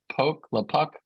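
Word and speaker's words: LoPucki: if you use a little pluck a little poke the puck calculator are you familiar with this vlad um there's a ucla professor uh of bankruptcy who you came up with yeah yeah the puppy that's how you say it he has a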